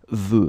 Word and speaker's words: veux: a bit tricky, but it goes like veux, final X not pronounced.